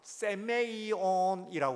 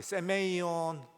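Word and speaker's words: σημεῖον: 그래서요 이 표적을 헬라어로는 세메이온이라고 그래요. 세메이온 하는 말로 헬라어를 그렇게 이야기를 해요. 다 같이 세메이온.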